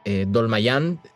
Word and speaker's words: Dolmayan: más allá diferencias políticas que hay entre los integrantes, puntualmente entre John Dolmayan, así se pronuncia su apellido, ¿no?